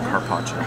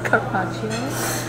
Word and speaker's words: carpaccio: Beef, how do you pronounce it? Carpaccio. Carpaccio.